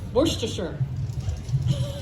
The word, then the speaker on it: Worcestershire: Worcestershire.